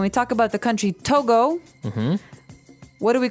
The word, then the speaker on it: Togo: So it's Togo. That's the way you pronounce it. Cuz if you look at it, I would say to go, right? But it's not to go, it's togo.